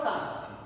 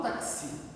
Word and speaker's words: táxi: A palavra táxi. Eu não falo taxi. A sílaba tônica dela é o tá.